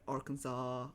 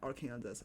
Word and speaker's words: Arkansas: Because also like you know got Arkansas or Kansas which is not R Kansas. Please don't ever pronounce R Kansas.